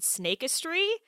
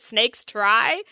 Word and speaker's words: Snakistry: It's called Snakistry, which is spelled snakes and then the word try, but all together. So you could also pronounce it snakes try, however you so choose.